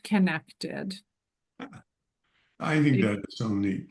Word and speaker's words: Qinektd: It's pronounced connected.